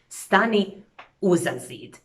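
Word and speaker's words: stani uza zid: would add this A, and you wouldn't pronounce these words separately, but they would sound like a single word. Stani uzazid.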